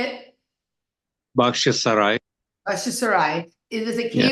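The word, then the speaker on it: Bakhchysarai: Bakhshisarai.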